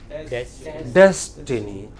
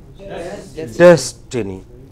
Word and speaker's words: destiny: Similarly, here, des is given prominence. So in English, are you with me? In English, the stressed syllable is very prominent.